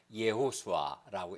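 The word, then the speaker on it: יהושע: 이제 구약 성경에 보면 여호수아, 히브리어를 그대로 발음하면 예호수아라고, 이걸 축약하면 예수아라고 부르는데, 이 말은 구원, 하나 여호와께서 구원한다는 뜻이거든요.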